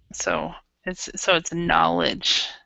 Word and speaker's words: knowledge: Okay, and remember with the word knowledge, the K is silent. So it's knowledge.